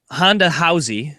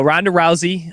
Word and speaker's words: Ronda Rousey: the UFC here um Honda howy I believe that's how you pronounce her name do I have that correctly the RS are like H's 100% okay no no Ronda Rousey um they did the